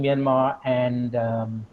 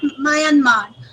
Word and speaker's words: Myanmar: also work on Myanmar, it is always good to pronounce the country actually as it is pronounced. It is not Myanmar, but it is Myanmar.